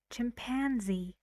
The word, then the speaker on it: chimpanzee: chimpanzee how many syllables three again and the stress is on pan chimpanzee good very good interestingly